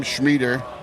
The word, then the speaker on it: Schmieder: And the only way I know of Schmieder, is that how you say it?